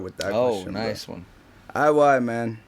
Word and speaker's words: I.Y.: coming off guard with that oh nice one I why man it's a very easy name bro my name is spelled our I why a I why yeah that's how you spell